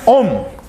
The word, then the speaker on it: ohm: a letra Ômega maiúscula a gente pronuncia om o nome dessa unidade Por que que eu